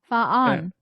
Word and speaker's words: fan: a good ring to it how do you spell that f a n fan faan faan yeah faan okay I'm G to remember